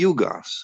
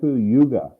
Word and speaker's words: yuga: to comprehend the intervals let's say between the yugas or between the epoch what is the why